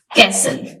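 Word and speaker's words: castle: silent letter आते हैं first कैसल कैसल कहते हैं कले को इसमें टी साइलेंट है सेकंड और घंटा इसमें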